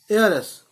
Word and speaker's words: heiress: मैंने पहले हेयर बोला ताकि आप लोगों को स्पेलिंग क्लियर हो, लेकिन वारिस है तो उसे कहेंगे एयर। और एयरस, HEIRESS, एयरस।